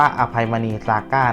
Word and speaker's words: อภัยมณี ซาก้า: ซาก้ า นะ ครับ ไม่ มี พระ นำ หน้า นะ ครับ อ่าน ว่า อภัย มณี ซาก้ า นะ ครับ ข้อ มูล